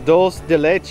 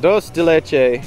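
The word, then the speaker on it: dulce de leche: are the donut holes dolce de leche i had to ask her and she said yes i am correct in that pronunciation but i'm still not confident in it but dos de leche donut holes and there's the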